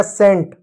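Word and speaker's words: scent: एस सी ई एन टी एस का स होगा। सी साइलेंट होगा। ई का एक ही मात्रा एन का आधा और टी का ट हो जाएगा सेंट।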